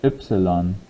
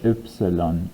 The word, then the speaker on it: Ypsilon: Not quite the same as the English letter Y. So this is pronounced Ypsilon. Ypsilon. And the Y sound here is a little weird as well. So it's Ypsilon.